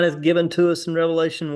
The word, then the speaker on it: Revelation: Revelation, the book of Revelation is the revelation of Jesus Christ. It's not Revelations, it's the book of Revelation, and a lot of